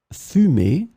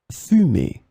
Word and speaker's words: fumer: In this lesson, we will see together two words that are written differently but pronounced the same way. Fumer, fumer.